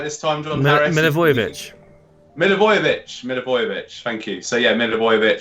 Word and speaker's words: Milivojevic: Milivojevic.